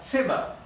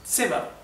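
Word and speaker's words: Zimmer: set para la Z la Z en en alemán siempre se pronuncia T T ts por ejemplo la palabra sema sema sema significa habitación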